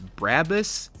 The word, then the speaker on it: Brabus: pronouncing this right, but it's Brabus, but it's spelled B-R-A-B-U-S, so I probably am saying it wrong.